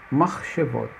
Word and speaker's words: machshevot: No primeiro caso, pela regra, ele é mudo, mach, she, machshevot.